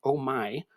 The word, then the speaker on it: Omi: today that it's pronounced Omi because there's art that you say om my about on the premises which I did not